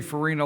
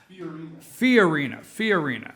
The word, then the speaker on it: Fiorina: Have you seen the video where Carly Farina, I say Farina like Purina. Fiorina. I got to enunciate there, right, Lonnie? Fiorina. Carly Fiorina. Have you seen that? Put the wrong emphasis on the wrong syllable.